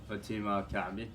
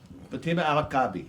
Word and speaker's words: Fatima Al-Kaabi: What's How do you pronounce her last name which I could not even do? Fatima Alakabi. Fatima Alakabi. Right. There you go. There we go. Fatima Alakabi.